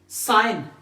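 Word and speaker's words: sign: रहती है हमारे पास जब भी हमारे पास नवर जी comes before N सो ji remains साइलेंट कैन नॉट be pronounced जैसे हमारे पास है साइन यहां पर मैने टिक किया हुआ है जी क्या है साइलेंट अलाइन जी क्या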